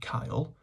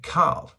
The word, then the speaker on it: cael: So, to recap, CAEL, pronounced like the boy's name, CAEL, or like a Scouser would say, CAEL, if you're a Westerner, CAEL, can mean have, get, or allowed to, but it never shows possession.